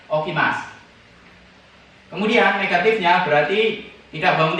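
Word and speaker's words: 起きます: Tulisannya okimasu, tapi dibacanya okimasu.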